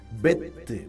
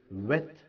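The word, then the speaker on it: ב: எப்பொழுது பி என உச்சரிக்க வேண்டும்? பெத்துக்கு நடுவே டாகஸ் போர்ட் என்று சொல்லக்கூடிய ஒரு புள்ளி வருமானால் அதனை பா என உச்சரிக்க வேண்டும், அதாவது பெத். இந்த புள்ளி வராத போது இந்த பெத்தை வெத் வா, அதாவது விஷிட் என்ற ஓசையில் உச்சரிக்க வேண்டும். அநேகர் முறைப்படி வேதாகமத்தை, அதாவது எபிரேய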